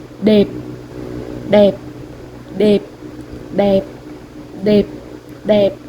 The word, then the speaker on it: đẹp: đẹp đẹp đẹp đẹp đẹp đẹp。